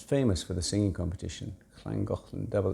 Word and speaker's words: Llangollen: It's famous for the singing competition, Llangollen, double L. Even I can just about pronounce it, Llangollen.